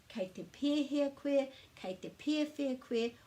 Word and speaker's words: pēhea: So in some places the way of saying kei te pēhea koe is kei te pēwhia koe, and there's also other ways of saying that as well.